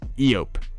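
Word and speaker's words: Eopie: This Jedi prefers to travel more primitive means, or by more primitive means, like this Eope, that's how you say it, whenever possible.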